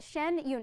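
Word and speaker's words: Shen Yun: a little bit but shen yoon is that the proper way to pronounce it yes beautiful and then talk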